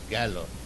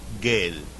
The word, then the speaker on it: গেল: So the pronunciation is gallo. But he said gale.